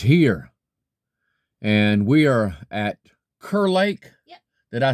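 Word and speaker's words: Kerr Lake: And we are at Kur Lake.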